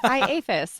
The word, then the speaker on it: IAFIS: And I actually looked on YouTube how to pronounce it. And it's like IAFIS.